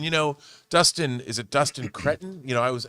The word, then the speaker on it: Destin Daniel Cretton: And you know, Dustin is it Dustin Cretton? You know, I was How do you pronounce Dustin Daniel Cretton.